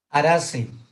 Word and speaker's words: Araceae: Arace. Arace y se escribe Araceae, pero es Arace, de la familia Arace.